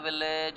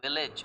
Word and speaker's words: village: but I'm sorry friends, this word is not village, it is village। Again this A is giving you sound of E।